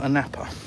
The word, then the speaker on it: Anapa: No, a napper, mate. It does. It is spelled a Hannah, but a napper.